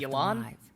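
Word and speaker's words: Yelan: i open this also i'm sorry i've been saying her name wrong apparently it's elon not yellow not a sufficient reason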